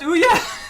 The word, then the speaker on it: Ouya: It's pronounced Ouya. That's Ouya.